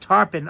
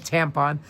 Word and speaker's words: Tarpon Springs: Oh, Andrew's saying it's pronounced Tarpon.